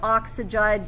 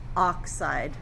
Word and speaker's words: oxide: How many syllables should be in that ion name? 2 syllables. So not nitrogide, but just nitride. Not oxygide, but just oxide.